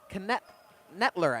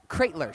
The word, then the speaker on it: Katler: 14 for The Kingsmen that is Zack ketler I think is how you say that ketler katler sorry mispronounced that one Zack katler wide open